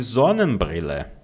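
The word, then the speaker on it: Sonnenbrille: Eu coloco o acento aqui no ponto de entonação e de zonan brille, tá? De zonen brill. Lembra, ó, s antes de vogal, som de Z, tá? S antes de consoante, som de ch.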